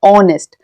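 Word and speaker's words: honest: इसमें "h" ध्वनि मौन है। इसीलिए इसका सही उच्चारण "ऑनेस्ट" है।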